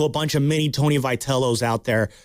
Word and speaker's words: Vitello: said about Buster and Vitelli. Is it Vitello? Vitello. Yeah, Vitello. I'll say Vitello, man. I'll say it like that because anyway, Vitello.